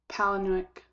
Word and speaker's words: Palahniuk: up i i watch i think that the h is silent palinuk i'm gonna call him